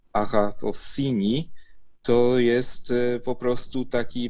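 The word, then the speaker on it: ἀγαθωσύνη: część tego słowa bo samo to słowo się wymawia Aha cossini to jest po prostu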